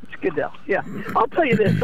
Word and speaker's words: Goodell: Roger Goodell? Goodell. Goodell, yeah.